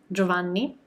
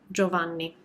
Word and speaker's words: Giovanni: do we would say giovanni so when you have a g um a vowel and an i sandwiched in between the two you don't pronounce that i hopefully this helps and